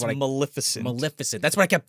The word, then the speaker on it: Maleficent: Melissa Sin, or whatever the fuck the one from Sleeping Beauty is called. I can never say it right. That's Maleficent.